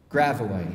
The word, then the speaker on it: Gravois: Gravois rhymes with Illinois at the ragged edge of Nouvelle-France, an avenue without renewal on which the evening sun goes down.